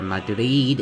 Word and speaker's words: Madrid: For Spain, we're gonna put Madrid, or Madrid, if you're gonna do the Spanish pronunciation.